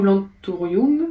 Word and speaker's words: anthurium: L'anthurium ou l'anthurium, ça dépend comment on prononce. Généralement, quand on a fait du latin, les U sont des OU. Donc, moi, je dirais l'anthurium.